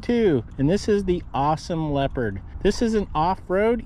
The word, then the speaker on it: Ausom: scooter this is brand name is awesome and not only that look how it spelled it's spelled with an a u in for a treasure